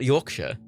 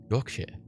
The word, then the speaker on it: Yorkshire: They already overpronunciate the Shire. It's not Yorkshire. Yorkshire. Yorkshire. Yorkshire. Like it's Shire. Like the fucking Hobbit Shire, you know?